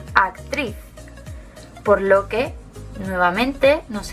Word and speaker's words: actriz: Lleva el golpe de voz en la última, actriz.